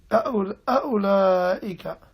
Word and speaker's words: أولئك: Yeah, the first alif is going to be very, very short. Very short and snappy. أولئك.